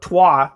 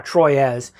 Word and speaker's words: Troyes: And for those, Trois is how it's said, I guess. It's the same designers of Trois, Troyes, that did this.